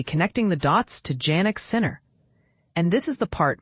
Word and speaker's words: Sinner: with a tennis professional whose name happens to rhyme with winner. Naturally, this sent tennis fans and gossip enthusiasts into overdrive, immediately connecting the dots to Janick Sinner.